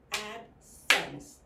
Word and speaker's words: absence: your pronunciation for example this last e you don't pronounce that is silent absence the next word is